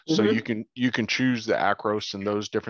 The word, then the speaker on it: Acros: the film simulation was across. So what was the film simulation? It's called Across, Acros. Acros, thank you for bailing me out. I had it written down, then wasn't pronouncing it right.